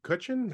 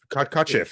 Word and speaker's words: Kotcheff: The fact that Ted Kutchin, how do you say it? Kotcheff, sorry.